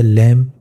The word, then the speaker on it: lamb: دیکھ لیتے ہیں آگے، جیسے لیمپ، دیکھیں اس کی سپیلنگ LAMB ہے، بی ہے اس میں لیکن وہ سائلنٹ ہو گئے، کیونکہ بی سے پہلے ایم ہے، ٹھیک ہے۔ اسی طرح